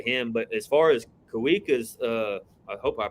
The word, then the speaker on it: Kawika: So in Hawaiian, if it was a word that started with a W, like Waikiki, yeah, you say wa. Okay. But if the W happens after the first syllable, it's a V.